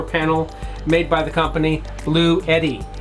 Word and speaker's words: Bluetti: It's a portable power station, and the SP120, the 120 watt solar panel made by the company Bluetti. That's spelled B-L-U-E-T-T-I, not Blue Yeti, like the anime.